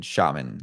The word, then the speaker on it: Xiamen: So we ran in shaman, like Shamans. That's how you say it. Okay. Yeah. Shaman and Shaman. So No. It's it's with an x, so it, like, throws everybody off.